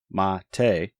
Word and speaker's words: MATE: desktop page was a quote the name mate pronounced mate comes from BBA Monte a species of Holly